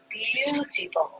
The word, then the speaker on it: beautiful: The A is silent. B-U-T, full. B-U-T, full. Beautiful.